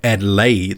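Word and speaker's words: Adeleye: david and lay and i just pronounced that david adelaide the last name adelaide because i had someone chasing me down all over social media demanding that i had to emphasize the e at the end so david had a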